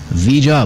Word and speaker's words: Ouija: वीजा board के नाम से अब वो मशहूर है। उसकी स्पेलिंग जो है OUIJA, अगर आप सर्च करना चाहें तो सर्च कर सकते हैं।